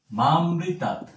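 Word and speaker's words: মামৃতাৎ: সবচেয়ে গুরুত্বপূর্ণ একটি বিষয় মামৃতা আমরা এটাকে মা প্লাস অমৃতা এরকমভাবে উচ্চারণ করব।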